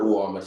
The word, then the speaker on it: UWAOMA: And then the other networks, with the exception of UWAMA, check out UWAMA, UWA, wow. English. Bekanatu. Let me just spell it.